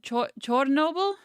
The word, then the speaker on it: Chornobyl: Ukrainians pronounce it Chornobyl, like a CHOR instead of CHER. That's more of the Soviet Russian pronunciations.